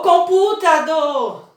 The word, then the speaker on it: computador: batom ele ganhou do eu não vou falar assim ó o computador o computado não né nem computador não a sílaba tônica então é computador sempre a sílaba que eu